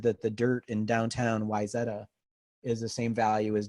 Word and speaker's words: Wayzata: ax is a Wayzata I'll give you the local the local pronunciation it's Wayzata and basically like the executives